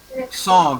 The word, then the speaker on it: sans: Sans.